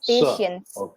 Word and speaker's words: patience: Patience. Yes. The T is not pronounced. So instead of that you say it as sh.